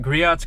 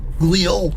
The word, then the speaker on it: Griot: Anyways, we're at Griot's Garage in Tacoma, Washington. It's pronounced Griot.